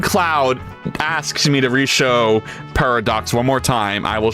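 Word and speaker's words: Purradox: Oh, it's it's pronounced paradox.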